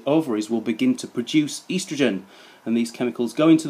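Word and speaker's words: oestrogen: Starts with an O but is actually pronounced estrogen.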